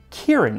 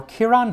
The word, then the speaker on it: Ciarán: I used to think his name was Ciarán Hinds, but it's actually pronounced Kieran or Ciarán Hinds, my favorite Irish actor.